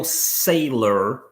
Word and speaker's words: Saylor: heard about this guy michael saylor as in like a sailor but it's spelled say why um investing 425 million